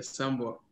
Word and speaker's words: Sambor: It's like it's S-A M-B-O-R. Sambor.